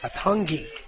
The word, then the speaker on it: Atagi: Her last name is pronounced as though there was an N in there. Atungi. I haven't gotten used to that yet, Mike. There's no N.